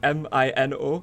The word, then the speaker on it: Mino: Dingo wanted me to name a cat Minu, and I was like, how do you spell it? And he was like, M-I-N-O.